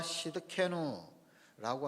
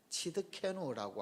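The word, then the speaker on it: צִדְקֵנוּ: 자, 또 마지막 하나만 더 하면 여호와 시드케누라고 하는 말이 있습니다. 여호와 시드케누, 시드케누라고 하기도 하고요. 이 히브리어 발음이 조금 이제 우리가 내기 어려운 부분이 있는데 치드케누라고 하기도 합니다.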